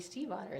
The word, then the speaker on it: Stiefvater: my name is Maggie Steve otter that's pronounced Steve like the name an otter like the animal that means stepfather in